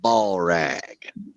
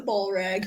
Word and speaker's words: Balrog: I'm going with old Balrag.